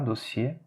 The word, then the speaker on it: dossier: Ici, on ne le prononce pas, dossier, ok, on ne le prononce pas.